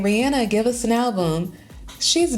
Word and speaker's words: Rihanna: By the way, I'm calling her Rihanna now because apparently that's how you're supposed to pronounce her name. Even though it feels more comfortable or you know to say it Rihanna, but she says it's Rihanna. So we're going to go with Rihanna.